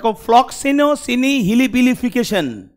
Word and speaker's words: Floccinaucinihilipilification: তাহলে শব্দটার প্রোনাউন্সিয়েশনটা একটু সবাই একটু করার চেষ্টা করবে। কি হতে পারে প্রনাউন্সিয়েশন? দেখ ফ্লক্সিনোসিনি হিলিপিলিফিকেশন ওয়ান অফ the longest English words.